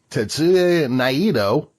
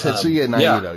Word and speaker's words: Tetsuya Naito: at which Tetsuya Naito became the IWGP World and Intercontinental Champion.